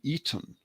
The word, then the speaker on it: Aten: twist on that because it was spelt with the reed glyph, and that's pronounced with an E more than an A. So we normally say the Aten, but it was actually the Eton or the Eden.